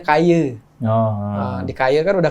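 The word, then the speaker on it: Kayı: Nah, sebenarnya Kayi itu tuh kita ambil dari nama suku Kayi, atau di Turki itu kan dibacanya Kaye.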